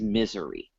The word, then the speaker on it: Missouri: in colombia you know my pronunciation of the state missouri is misery you know it's it's all in the emphasis so so when when